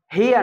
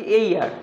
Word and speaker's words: heir: হেয়ার না, এর উচ্চারণ হচ্ছে এইয়ার, আবার এ আসছে উচ্চারণ, এই জন্য এর আগে অ্যান হবে।